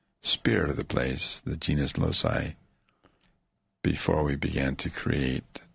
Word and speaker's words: genius loci: Is that how you pronounce it? Correct. Yeah, genius loci, the spirit of the place.